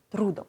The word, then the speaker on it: трудом: Саме наголос на літері «у» - трудом.